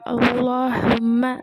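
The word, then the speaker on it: اللهم: சரி, குறிப்பில் வந்து கொடுத்துருக்காங்க, அல்லாஹும்ம என்னும் வார்த்தையை ஆரம்பமாக ஓதும்போது இவ்வார்த்தையில் உள்ள லாமை தஃகீம் செய்து வல்லினமாக உச்சரிக்கப்படும். இப்போ அல்லாஹும்ம அந்த வந்து அதில்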